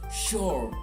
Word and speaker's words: sure: sure for sure and although it's s u it should sound like sha sh the sh sound sure it's sure that long vowel sound right now try